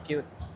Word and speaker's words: QT: Dan termasuk ee namanya juga cute. Oh, Cute itu maksud apa tu? Cute. Ah, cute. Jadi, cuy itu bacanya cute.